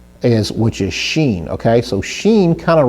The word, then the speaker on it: shin: So if the holam is on the right, it's pronounced Shin. If it's on the left, it's pronounced sin, not sin, but sin.